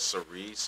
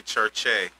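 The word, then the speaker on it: Circe: I know it looks like it says cerise or even however it may look to you, but that's actually church-e.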